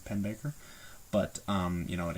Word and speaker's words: Pennebaker: by uh D.A pennebaker I think that's how you pronounce his last name pen Baker but um you know